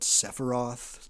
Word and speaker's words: Sephiroth: So with that, again, a lot of the terms I'm going to be saying, different pronunciations of it, Sephiroth, Sephirot, this kind of thing.